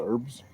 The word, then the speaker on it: herb: It's a herb. The H is silent.